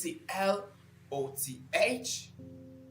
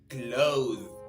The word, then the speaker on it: cloth: We don't say clothes. Okay? So, say cloth is having the soft h sound at the end of it. That is a th sound.